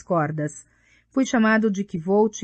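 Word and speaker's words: Kvothe: Meu nome é Kvolt, com pronúncia semelhante à de Quolt.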